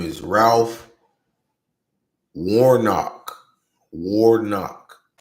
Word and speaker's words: Warnock: Warnock. Not Warmark, Warnock. I said it wrong first.